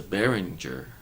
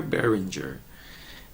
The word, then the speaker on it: Behringer: is a different microphone it is the Barringer berenguer Berenguer a Behringer and I took off